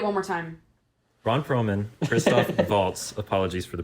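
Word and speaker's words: Christoph Waltz: moving up so the number two Ron Perlman Kristoff Waltz Tilda Swinton Kate Blanchette John Church row Finn wolfhard oh repeat one more time Ron Perlman Kristoff vaults apologies for the pronunciation earlier Tilda Swinton Kate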